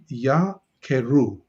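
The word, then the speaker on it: יָקְרוּ: which opens the syllable so it would be ya keru yakeru because of the method that opens the syllable so it's a yah and a sound the comets as proposed to the o sound so that's one and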